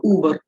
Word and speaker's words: Uber: Ma'am, UBER should be pronounced Uber or Uber. It's UBER. Uber.